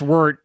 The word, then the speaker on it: wort: code uh promo code 2021 wart i say wart because i'm copying you here yeah i know it's pronounced word but we say wart because the average person